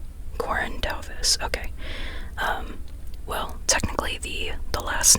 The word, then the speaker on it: Corinne Duyvis: Okay, her name is Corinne Duyvis. Corinne Duyvis, okay.